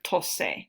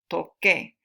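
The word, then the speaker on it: toqué: Entonces, el verbo tocar, la forma yo, no queremos decir tose, no. Okay, no es tose. Entonces, para mantener el sonido, to keep the sound the same, la letra C cambia a QU, toque.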